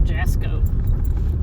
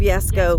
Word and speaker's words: Jasko: I've been watching a lot of Jasko. Oh, Yasko. I love Yasko. Jasko? Is that how you say his name? Yes. Yasko, Omar.